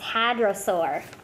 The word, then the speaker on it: hadrosaur: Oh, it's hadrosaur.